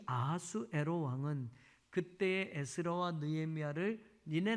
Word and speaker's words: 아하수에로: 자, 아하수에로 왕 하는데, 이 아하수에로라는 말은 히브리식의 발음이에요. 이 원래 페르시아식으로 이 아하수에로의 왕은 크세르크센스 뭐 이렇게 페르시아식으로 이야기할 수 있는데, 이 크사이아르산이라고 하는 이 단어를 히브리식으로 아하수에로라고 해서 우리 성경에는 히브리식 발음이 돼 있는 거고, 헬라어로 이거를 번역할 때는